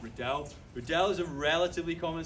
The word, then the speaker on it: Riddell: That second L at the side there means that you pronounce it like that, Riddell.